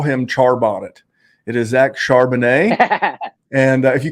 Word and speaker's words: Charbonnet: It is Zach Charbonnet. And if you call him Charbonnet on a podcast, we will ridicule you. But a guy like Zach Charbonnet, even Zach Evans, a guy that I like